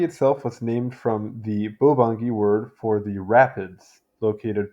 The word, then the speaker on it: Bangui: video I've been mispronouncing this I see now phonetically it is more or less bangi um I'll do kind of an English pronunciation though so bangi bangi or bangi in Sango formerly written bangi